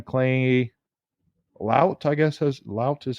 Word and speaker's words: Lout: Lout is how you say his last name.